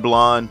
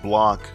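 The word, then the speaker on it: Blanc: specifically the 360 and blonde who is not pronounced Blan is based on Nintendo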